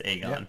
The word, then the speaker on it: Aegon: It's Aegon. Yeah, I know it's not Egon Spindler Targaryen.